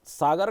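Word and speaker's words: Saugor: तो हर नगर का अपना एक नाम का महत्व है और सागर का नाम अगर हम देखें कि उसके पीछे क्या स्टोरी है? तो सागर को अंग्रेजों ने सैगोर कहा है।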